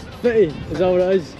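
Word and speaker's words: Footdee: Oh, I know people pronounce it differently here. Is it Fetty? Fetty. Is that what it is? It's proper name is foodie but I've been fetty right fetty that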